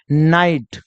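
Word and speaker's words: night: को क्या पढ़ेंगे आई तो न में अगर आई जोड़िए तो क्या बन जाएगा नाई बन जाएगा क्या बन जाएगा नाई बन जाएगा और जी एस बिल्कुल साइलेंट हो जाएगा और टी का क्या हो जाएगा ट हो जाएगा तो हम इसको क्या पढ़ते हैं नाइट क्या बोलते हैं नाइट इसका एग्जांपल्स मैं आपको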